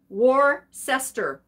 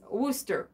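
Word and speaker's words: Worcester: wooster georgina figurine here royal or if i can do the the the the phonetically correct war sester but i believe that's wooster right that's how you're supposed to say that pretty sure if rachel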